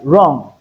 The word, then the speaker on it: wrong: Also I'd like you to note that Wu can be silent in some words like wrong, right? hear the R sound dominate the liquid sound dominate the combination of W R we are going to hear the R sound instead of W sound.